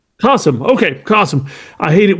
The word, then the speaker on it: Kasim: So, uh, Cassim, am I pronouncing it right? Castim. It's like awesome with a K. Kasum. Kasum.